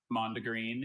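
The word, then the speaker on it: mondegreen: Mandreen is from an English phrase. Are there any alternate pronunciations? I have just the one.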